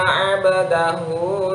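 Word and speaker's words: عبده: Harusnya ada pantulannya. Robbi, B-nya harus ada pantulan enggak? Enggak. Kenapa? B-nya itu hidup, tidak sukun. Yang abdahu baru dia mantul. Kenapa? Abdahu, baknya itu sukun.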